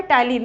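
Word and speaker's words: ptyalin: क्या नाम होता है टाइलिन देखो टाइलिन की स्पेलिंग होती है पीटी वाई यहां पे पी क्या होता है साइलेंट होता है तो दूसरा जो सलव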